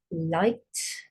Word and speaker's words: light: that you all know light light l or o I got GH here which is silent l i so when you write it write the whole word but just don't say those two sounds then rub it out